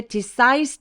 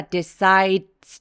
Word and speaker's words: decides: 자 여기서 발음할 때 decides 2가 아니라 decides to 이렇게 디귿 받침으로 발음하면서 마치 뒤에 TS 있는 것처럼 decides to decides to라고